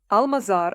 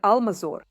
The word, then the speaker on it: Almazor: often find different versions, Almazar and Almazor. Both are correct. The version with O is closer to the local pronunciation, while the one with A is closer to the Russian.